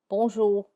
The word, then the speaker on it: bonjour: The weak R, I also call it the dry R, and it occurs when R is the final letter in a word. It is less audible and it sounds a bit dry. In words such as bonjour, bonjour, you say it, but it's not very audible. It's very dry.